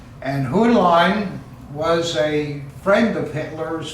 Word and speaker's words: Hühnlein: I think the Germans would pronounce it Hühnlein, but we Americans don't know how to pronounce a U when it has an umlaut over it. And Heinlein was a friend of Hitler's from World War I.